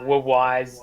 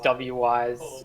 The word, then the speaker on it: Wwise: What wise is, wise, W-wise, call it what you will. It's spelled W-W-I-S-E if you want to Google it.